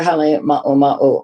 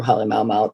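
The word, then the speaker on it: Halemaʻumaʻu: So she makes her home at Halemaumau Crater. Am I pronouncing that right, Elizabeth? It can be either Halemaumau or Halemaumau. There's different ways to say it depending. So you didn't do it wrong.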